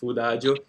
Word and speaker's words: Foodajo: So it is pronouncing together now with the food is food ajo.